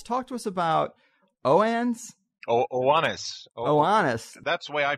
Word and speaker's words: Oannes: Oannes. That's the way I pronounce it.